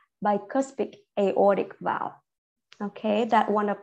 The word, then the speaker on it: aortic: word at the end it's aortic so the or you need to you know Raise Your Voice rate your you need to um put your intonation there so aortic vowel so with the aortic